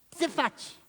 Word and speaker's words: Tzefat: Tzefat, é T e Z mudo.